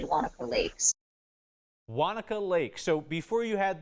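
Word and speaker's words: Waneka: what do you say the correct way to pronounce it is Wanaka the name like that comes from German immigrant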